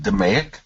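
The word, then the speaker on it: DMAIC: uh Six Sigma and lean complete so it's pronounced deic so say process Six Sigma practitioners follow to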